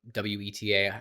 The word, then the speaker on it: Weta: Um, he also like visited Weta Workshop, which Weta WETA, I don't know, I think you pronounce it Weta, who is a huge like props studio Yep.